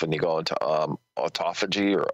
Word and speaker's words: autophagy: even fasting itself and you go into um autophagy or autophagy it's spelled a u t o p h a